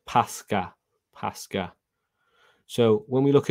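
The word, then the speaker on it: πάσχα: And it says, and it is pronounced Pascha.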